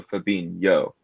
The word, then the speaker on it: Fabinho: of thumb here is with brazilians if it's the uh ho it's it creates the yo sound so fabin yo so if if fabinho was spelled without the h it would just be fabinho but since firmino is